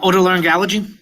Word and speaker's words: otolaryngology: Uh auto learn allergy?